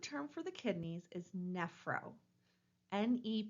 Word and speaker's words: nephro: for the kidneys is nephro NE p h o pronounced nephro again remember that that pH letter inside of medical terminology was pronounced like the F sound we're taking a look